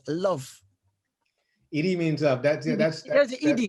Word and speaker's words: Edhi: That's ED. Is how you say ED, not yeah, Eddie. ED means love. ED is Gujarati.